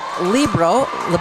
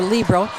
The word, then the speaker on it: libero: Sometimes that is pronounced libero or libero, is a special position for a back row player.